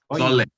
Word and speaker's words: Soole: There's a new movie out called, I think it's Soole. Is it Sole? Or I think that's how it's, I'm not sure if that's how it's pronounced, but it's, how is it pronounced? Did I get it? Sole. Thank you.